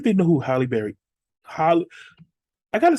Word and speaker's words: Halle Berry: Holly, I gotta say her name right because I'll say it's Holly Bailey.